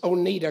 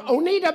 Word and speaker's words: Oneida: Now, we pronounce Tennessee Oneida, Tennessee, but this is Oneida, Kentucky.